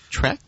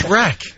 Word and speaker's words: Shrek: Trek? Shrek 3, reviewed by Schmuck1. It's Shrek. Yeah, Shrek. Not Trek.